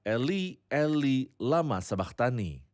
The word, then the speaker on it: Eli, Eli, lama sabachthani: pengucapannya dalam bahasa Aram, Saudara Yosef? Itu adalah Eli, Eli, lama sabachthani.